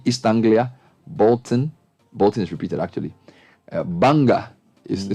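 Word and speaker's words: Bangor: Saint Andrews Derby istanblia Bolton Bolton's repeated actually Banger is spelled Bongo but it's pronounced Banger yeah and then Q School Q universities now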